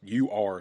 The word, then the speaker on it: Ur: Just U-R, so that's how I pronounce it, Ur.